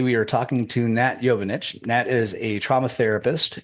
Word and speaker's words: Jovanovic: jovanic is am I spelling or am I pronouncing that correctly it's yanich but it's yanich okay cool uh she is